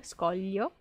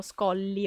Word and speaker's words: scoglio: si riesce a fare la pronuncia del così con gli scogli o la mia insegnante ci diceva di pronunciare una doppia elle quindi all'inizio i più piccoli mi dicevano scolli o scolli o con la elle scoglio i più grandicelli di come facevano già scoglio com'era quello scioglilingua guglielmo